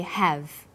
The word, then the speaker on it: have: When they are unstressed, the h sound is dropped. But when stressed, the h sound is pronounced.